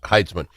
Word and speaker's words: Heitzman: See, we talked about that, and it's Hitzman? How do I pronounce it? Heitzman.